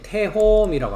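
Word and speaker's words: תהום: 그래서 이제 태홈이라고 합니다. 태홈이라고 발음을 합니다. 히브리어로는.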